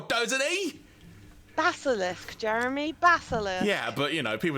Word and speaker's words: Basilisk: He's got Basilic Quest 4, doesn't he? Basilisk, Jeremy. Basilisk. Yeah, but people don't pronounce it at that age.